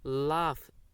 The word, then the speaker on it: laugh: Laugh. Here laugh, GH gives the sound of fa.